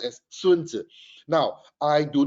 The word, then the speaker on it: Sun Tzu: they tried to quote him yeah they even pronounce him wrongly they say oh this fella by the name of sun tzu yeah so in case you do not know